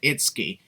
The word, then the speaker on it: Itsuki: Also, Vince, if you want to pronounce their names properly, it's Norio and Itsuki. And you said Norino when there was clearly no N before the Y or the last O.